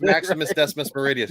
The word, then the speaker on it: Maximus Decimus Meridius: Yeah, it's Maximus Decimus Meridius.